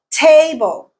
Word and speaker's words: table: Table, table. Te is the stressed syllable.